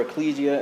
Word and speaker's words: ekklesia: the primary one is ekklesia or ecclesia as some people prefer to pronounce it which means assembly